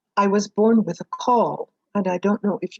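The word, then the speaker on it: caul: home and um i was born with a call and i don't know if you know what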